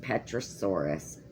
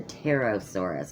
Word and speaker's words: pterosaurus: And it is one of the largest petrosaurus ever discovered. Or, I'm sorry, I said petrosaurus. That P is silent.